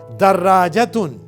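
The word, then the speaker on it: دَرَّاجَةٌ: Second word دراجتن. دراجتن, spelling, دال کے اوپر فتحہ, را کے اوپر شدہ, اس کے اوپر فتحہ, پھر لانگ واول الف. درا, جیم کے اوپر فتحہ اور راؤنڈ تا کے اوپر تنوین.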